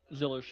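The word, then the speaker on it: Zilisch: Is it Zillich? Is that how you pronounce the name? The one that's in the 87 car? Zillish, yeah. Yeah. I was like, it's either Zillich or Zillish. Zillish.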